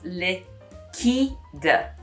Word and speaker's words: liquide: middle of the word, it becomes liquide, and you pronounce the D at the end, so air liquide.